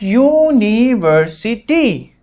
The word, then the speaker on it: university: me the answer hmm because you is not giving the vowel sound how because university that is you knee were c t it sounds like university so this is not